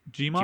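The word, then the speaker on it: Djimon: And then the first mate, Duke, played by, how do I pronounce it? Jimon?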